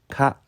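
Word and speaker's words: 花: 일본어로 는 ' 카 ' 라고 읽으며 , 윗 부분 은 풀을 나타 내는 부수 입니다 .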